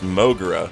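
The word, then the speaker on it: モグラ: moment ago in Japanese the word mole is pronounced mogura but another meaning of mogura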